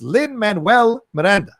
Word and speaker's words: Lin-Manuel Miranda: diatribe that he's about to go to it's lin-manuel miranda it's not that difficult it's not that hard